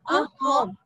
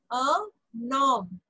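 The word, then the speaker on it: un homme: It's not a home, okay? A nom. Okay, a nom. Yes. Okay. H is silent. Yes. Remember, H is silent. So this yes. becomes liaison. We have to do liaison. You know liaison? No. Okay. So N and N will become the sound okay, of ma'am. A num.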